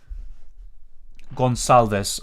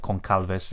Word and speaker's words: Gonçalves: Gonçalves. Okay, yeah, it makes sense. I don't know why I said Goncalves. That's kind of just the literal translation and pronunciation.